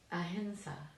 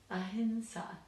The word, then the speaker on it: ahimsa: to get used to that full nasal sound. But now you know, ahinsa, ahinsa, ahinsa. It's very hard. Okay, so that's my little theory as to why we have that confusion between the two pronunciations, but hopefully that clears